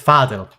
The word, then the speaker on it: Fadil: So it's Fadil.